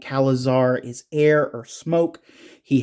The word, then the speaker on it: Kalizirr: I think the only thing that like I might have wanted from this too would actually, since it is on Kalizirr, yeah, I said it right finally.